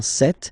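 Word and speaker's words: cette: again s or then set feminine set so you can notice that phonetically these two are pronounced the same way okay set here and then set here and for the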